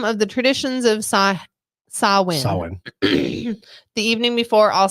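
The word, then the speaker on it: Samhain: ancient Celtic Festival of sawin sawin I always said Sam H for the longest time but you know it's not the right way to say it sawin a pagan religious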